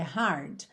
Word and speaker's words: hard: Gente, não tem vogal, não tem um i depois desse d, então não pode ser d, é hard, tá?